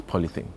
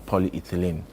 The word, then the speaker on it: polyethylene: And the two commonest materials used to manufacture body bags is what we normally refer to as polythene. The actual pronunciation is polyethylene. Polyethylene, but we just shorten it, polythene. Locally to say polythene.